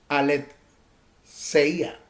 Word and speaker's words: aletheia: En esa conversación que tuvo con Pilato, ese término viene del griego aletheia, así, aletheia, A-L-E-D-S-E-I-A, que significa sin esconder. Se usa como particular negativo del griego lanzano. Se escribe L-A-N-D-S-A-N-O, lanzano.